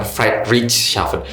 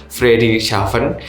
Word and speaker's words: Friedrichshafen: Ya, bacanya bukan Friedrichshafen, Friedrichshafen.